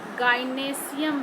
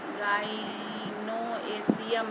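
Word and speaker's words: gynoecium: ये है कार्पेल, इसको हम लोग गाइनेशियम भी बोलते हैं, गाइनोएशियम ऐसे हम लोग स्पेलिंग लिखते हैं, गाइनेशियम बोलते हैं।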